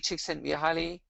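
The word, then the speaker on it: Csikszentmihalyi: of happiness uh mihaili chick sent me highly uh very difficult to pronounce um one useful tip i was given was think about your cheeks and think your cheeks send me high and so she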